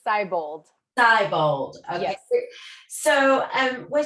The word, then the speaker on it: Seibold: Am I pronouncing that right? It's Seibold.